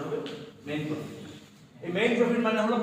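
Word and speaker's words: mesne profit: বলছিলাম এসটা উচ্চারণ হবে না ম্যাক্সিমাম প্রফিট এটা উচ্চারণ হবে মেইন প্রফিট এই মেইন প্রফিট মানে হলো প্রফিটস আর্ন ফ্রম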